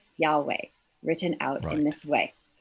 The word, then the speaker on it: Yahweh: name of God that we understand as pronounced as Yahweh. But what Exodus 3:14 does is to give an etymological explanation for the form of the name Yod-He Vav-He, which we pronounce as Yahweh.